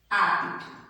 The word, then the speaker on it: apto: Quando a gente diz, por exemplo, a palavra apto, apito. Na pronúncia é dessa forma. Porém, vocês percebem que a palavra apto em sua escrita não tem a letrinha I.